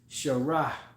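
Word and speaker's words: שָׂרָה: say Prince is sh the way you say princess is Shah you will add a ha at the end so sh Prince sharah princess okay now you had Isaac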